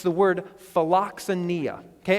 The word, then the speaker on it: philoxenia: Okay, and when I pronounce it that way, it probably doesn't jump out at you. But if we pronounce it philoxenia, you might catch a couple of other words that make kind of this compound word.